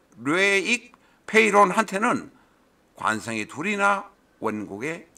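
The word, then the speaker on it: Loïc: 네살 밑에 동생의 명식 로익 로익이 로익이 프랑스는 위에 뭐 알파베트 점이 있어 가지고 발음이 좀 그렇습니다 로익 아니고 로익 뭐 이렇게 발음하는 모양입니다 기해 을해 정사 갑진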